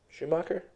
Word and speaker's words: Shoemaker: Schumacher? It's spelled Shoemaker. So then it's probably Shoemaker.